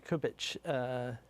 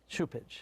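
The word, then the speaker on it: Cupich: And I really liked Cardinal Kubich, if I say his name right? Supich. Yes.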